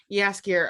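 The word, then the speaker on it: Jaskier: said i'm saying yeah yes gear yes gear appears no with a j but it's pronounced yes yeah yes gear um he is my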